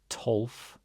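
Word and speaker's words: tólf: Then we've got tolf. So O with an accent makes O. It's just like a really hard O sound. And this F is just a soft F. It's ending the word.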